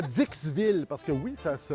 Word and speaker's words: Dixville: Bienvenue à Dixville parce que oui ça se prononce comme ça.